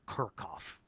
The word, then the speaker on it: Kirchhoff: was a gentleman named how do you think that's pronounced it's actually Kirk off kirchoff's law of electric